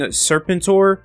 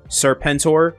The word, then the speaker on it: Serpentor: So before we get into the video, I've been saying Serpentor instead of how it's actually pronounced in the G.I. Joe series, Serpentor.